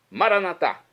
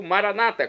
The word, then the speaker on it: Maranatá: Maranatá, como dizemos nós católicos. Ou Maranata, como dizem nossos irmãos das comunidades evangélicas ou protestantes. Não importa a pronúncia, o significado é o mesmo.